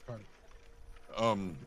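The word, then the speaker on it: Kardis: Like TARDIS, but with a car. Okay, or Right. Curtis. It's K-A-R, but otherwise, yes. Okay. Yes. Right, so Cardis.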